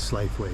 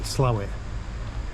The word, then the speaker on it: Slaithwaite: public flogging offense to refer to it as slave way. Slow it.